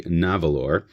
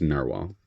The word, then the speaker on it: Nahvalur: what some people say navalore which is n a h v a l Ur however that is Icelandic for narwhal so it's pronounced the same so even the new brand it's pronounced narwhal that change was in